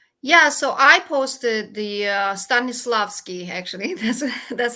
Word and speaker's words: Stanislavski: Yeah, so I posted the Stanislavski, actually.